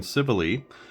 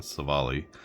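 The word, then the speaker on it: Civale: off against civile and that is how you say it civile it's not seali uh I looked it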